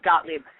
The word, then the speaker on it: Gottlieb: your last name properly it's gottlieb you were really close okay great thank you